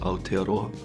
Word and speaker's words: Aotearoa: New Zealand or in their native tongue it's pronounced aotearoa in a Maori culture there's a lot of